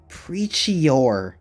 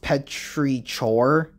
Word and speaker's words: petrichor: And his scent is Preachior. What kind of scents are these? I think it's actually pronounced Petrichor.